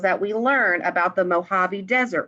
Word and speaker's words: Mojave: amazing life of the mojave it looks like mojave but it's mojave it's a desert okay it looks like the word mojave but it's pronounced mojave and this is a non-fiction text expository means